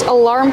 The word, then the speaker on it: alarm: We see the word alarm has two syllables. The first one is relax. Uh uh like cup and up. Uh uh alarm. Put the stress on the second syllable making the R sound like bar and car.